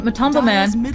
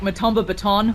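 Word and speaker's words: MATUMBAMAN: on the bottom lane, Matumba Man, I just keep saying his name because I definitely said it wrong there, earlier. A little embarrassing. Matumba Man just, yeah, I said like Matumba Baton or something.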